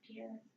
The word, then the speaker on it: Pierre: the state capital is it's spelled like Pierre but I guess it's pure yes here here it